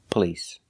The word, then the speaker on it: police: blowing out a candle the word is police police we don't use the a sound like stop and hot we use the uhuh the short sound uh like cup and up PP police the stress is on the second syllable police it's not on the first syllable we do not say police it's police police because the stress is on the second syllable the first syllable is pronounced relaxed p p police police remember